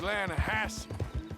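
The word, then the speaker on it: Lannahechee: Yeah, but it's pronounced Lanahatchee.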